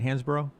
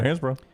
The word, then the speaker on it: Hansbrough: Hansbrough? Yeah. Tyler Hansbrough. I think I mispronounced it back in the day Hansbrough, but it's Hansbrough.